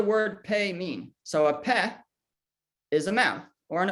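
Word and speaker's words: פ: pay mean so a pet is a map or an opening so here we have it the name is pe pe it makes a p sound if sometimes it's it's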